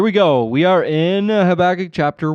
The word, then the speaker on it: Habakkuk: I, originally said, or however you want to pronounce it. I believe that I have been instructed. Habakkuk is the way that you should, but who's to say that instruction was correct?